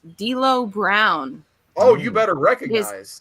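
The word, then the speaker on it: D'Lo Brown: time but it's uh i think this person's name is pronounced d lo brown oh you better recognize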